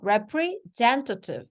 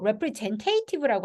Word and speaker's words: representative: representative. 얘도 representative라고 하지 않고요. representative. 미국식은 representative, 영국식은 representative. 그래서 T가 두 번 들어가서요.